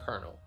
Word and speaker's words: colonel: It's just different, but we're just gonna stick with that kernel as a military title. Colonel?